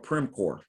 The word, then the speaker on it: Primcorp: a great company named by the name of Primcorp hired me. Spell it.